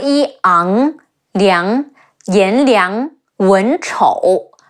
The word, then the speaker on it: Wen Chou: Ang, Liang, Yan Liang, Wen Chou, Wu En, Wen, Chi Ou, Chou, Wen Chou.